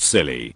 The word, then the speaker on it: Scilly: noise was gnarly the isle of scilly pronounced silly and netherlands are not